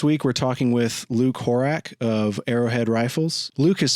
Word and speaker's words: Horak: Spell it like Ack or Ick, but pronounce it O-C-K, so Horak.